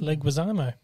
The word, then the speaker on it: Leguizamo: mirabelle's parents and john leguizamo is in there as um no leguizamo said how it's pronounced oh i thought it was gutierrez leguizamo leguizamo as mirabelle's uncle